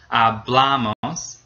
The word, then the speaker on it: hablamos: Nosotros hablamos. The bla gets stressed.